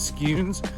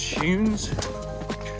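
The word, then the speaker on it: Skujiņš: I thought it was Scunes, but then I looked on his IG and it's Schunes.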